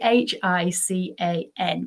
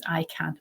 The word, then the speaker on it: HICAN: the ICANN Summit, and I always say it wrong. It's the HICAN, but I say it as ICANN because it's just easier to say.